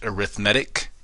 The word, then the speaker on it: arithmetic: it looks like the word arithmetic but it's pronounced arithmetic and then geometric sequences we if we have